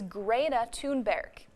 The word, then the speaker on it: Thunberg: And the proper way to address teen activist and Time Magazine's Person of the Year is Greta Thunberg.